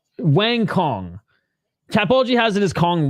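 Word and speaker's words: Wang Cong: They said Wang Kong is pronounced Wantong? No. It's Wang Kong.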